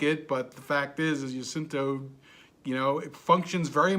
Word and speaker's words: Jacinto: Jacinto? Jacinto. Jacinto. I Right. can't. Sorry, I'm not Spanish. I don't pronounce these names pretty well. Yeah, pronounce your J's as if they were Y's.